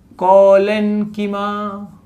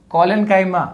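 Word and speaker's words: collenchyma: दूसरा कॉलेन्कीमा, भाई पैरेन्काइमा कॉलेन्काइमा, नहीं तो एग्जाम में भी गलत लिखोगे। अरे लिखना तो सही है, प्रोनाउंस सही किया करो, ठीक है।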